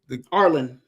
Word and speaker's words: Arlan: um Sir I want to make sure I'm pronouncing his name right. Sir Arlington is what's his name? Arland.